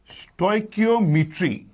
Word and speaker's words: stoichiometry: problem होती है तोय इसकी प्रोनंसिएशन है स्टॉय की ऐसे याद करना इजी हो जाएगा की आप अक्सर यूज करते हो वर्ड ओम ई ट्री इकट्ठा बोलेंगे तो स्ट कियो कियो